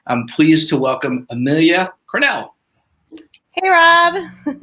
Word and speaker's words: Crannell: pleased to welcome amelia cornell hey rob how are you i'm great i we always want to be did we pronounce that right it's cornell correct yep yeah you got it right i was like i